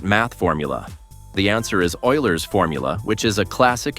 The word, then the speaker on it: Euler: pretty strange, especially since it's actually pronounced Oiler.